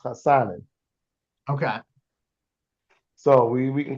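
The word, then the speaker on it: Hassanein: I'm gonna mess up that Hassanin. poor guy's name for Okay, his. so this is what we're gonna call him. So his last name is actually pronounced Hassanin.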